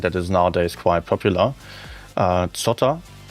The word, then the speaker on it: Zotter: Zotter. Maybe you would pronounce it Zotter in English.